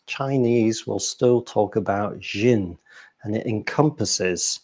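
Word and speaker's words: xin: It's a X-I-N, another inflection, but it's kind of pronounced Jin.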